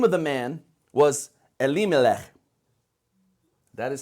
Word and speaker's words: Elimelech: The name of the man was Elimelech. That is how you say it. Elimelech.